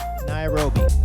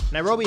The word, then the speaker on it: Nairobi: Sun yeah nothing all right last in it rhymes with slime OB and rifles today we'll be touring Kenya's capital city nairobi visit his rich history its unique landmarks find